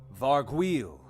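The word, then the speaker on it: Vargouille: How do we pronounce it? Vargweel.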